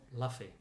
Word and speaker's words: Luffy: But well done, uh, Luffy or Luffy as it is spelled. Don't know why we're saying Luffy. Because that's how they say it in the manga. In the manga, in the anime.